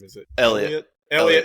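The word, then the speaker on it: Heliot: Elliot. It's Elliot. The H is silent.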